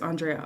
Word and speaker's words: Andrea: I keep saying her name wrong. I feel like it's Andrea, right? Not Andrea. No, it's not Andrea. It's Andrea.